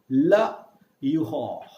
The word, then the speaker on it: l'euro: Remember guys, in French, the alphabet R is pronounced as ada and ada mixed together. Ha. Like when you don't have a good throat, you say ha. In the same way, you call ha. La yuho. La yuho.